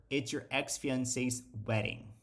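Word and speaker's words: wedding: a sílaba tônica aqui a sílaba forte é o então isso faz com que automaticamente a pronúncia do d ou do T vire um como então vou falar weding weding weding vamos re escutar essa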